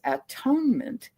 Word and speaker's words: atonement: And those of you who study the Course in Miracles may remember that what we have been taught to pronounce as atonement, the Course invites us